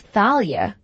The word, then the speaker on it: Thalia: swallow him up because he pronounced Thalia with a short I.